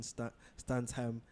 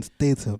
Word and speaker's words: Statham: Jason Stansham, Stantman. That's his name. No, I'm saying his like name is Jason Statham. Statham, yes, but it kind of rhymes with stunts.